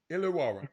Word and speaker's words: Illawarra: Illawarra Hawks. Illawarra.